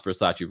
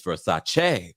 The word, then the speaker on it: Versace: um according to donatello we all pronounce versace wrong it's it's for sachet oh versace all right